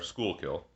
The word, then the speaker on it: Schuylkill: Schuylkill is really how it's pronounced.